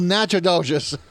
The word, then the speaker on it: Natchitoches: For those of you that are reading impaired, it's spelled Natchitoches, but Natchitoches is in Texas, so go figure.